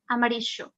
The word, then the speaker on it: amarillo: you use placa or if you use a maricho you're using regulado which is like this friction of the sound like more like sh plusha amarisho yo okay so why